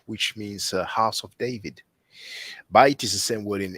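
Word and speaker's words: בית: But maybe in Hebrew it sounds more like Beit or Bet, Bethlehem, Bet-El, house of God. And in Arabic it sounds more like Bait, see.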